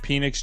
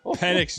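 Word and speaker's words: Penix: I'm like, are you doing this on How do you say this quarter? Penn. Oh, that's not a You just said Phoenix. Like penis. Yo, PennX Jr., Drake London, and Bejan Robinson.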